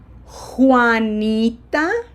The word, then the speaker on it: Juanita: Juanita, strong H sound.